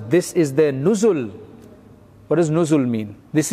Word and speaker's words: nuzul: madina it's called nozzle you just spell it weird nozzle n-o-z-o-l should be n-u-z-u-l nuzul because that's what the arabic word is so that's what